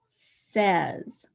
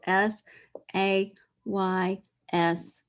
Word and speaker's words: says: here we go says s a y s says trace it trace it again ready s a y s says and it looks like says and some